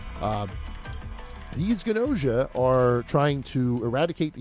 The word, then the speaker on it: Gnosia: the game I am talking about is called ganosa it is spelled GN o s i a so if